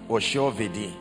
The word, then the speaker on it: Oshiovidi: Pronounce it. Oshiovidi. Oshiovidi. Oh, I see. Oshiovidi. The I is E.